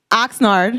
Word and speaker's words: Oxnard: Oxnard.